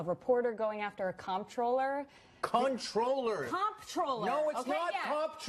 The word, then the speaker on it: comptroller: that was a misspelling comptroller is pronounced controller thank you wait a